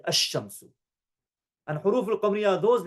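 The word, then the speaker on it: الشمس: Instead, the solar letter is pronounced with a tashdid, ash-shamsu.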